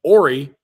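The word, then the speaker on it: Horry: of your it is H is silent and if uh and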